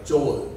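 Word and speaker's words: Joel: 자, 요엘을 영어로는 조얼이라고 그래요. 조얼. 요 얼이라고 발음하거든요.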